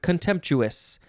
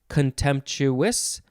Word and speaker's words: contemptuous: is the word contemptuous you can pronounce this a few ways you can say contemptuous contemptuous contemptuous contemptuous it is to some of you that may not have sounded like anything different but they were different this is an adjective